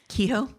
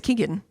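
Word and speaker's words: Keoghan: it's Barry Kehoe? I don't know how you Keegan. pronounce his last name. I think Keegan. it's Keegan.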